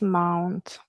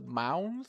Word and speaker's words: month: Uh also the pronunciation of this word, it's not month, it's month. Month. Month. So it's a short ah and then the rest is the same as written month.